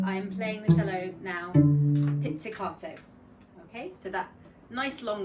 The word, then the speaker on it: pizzicato: Okay, so I'm playing the cello now pizzicato. Okay, so that nice long word, which is actually quite easy to spell, pizza, carta, but we pronounce it pizzicato, okay, an Italian word.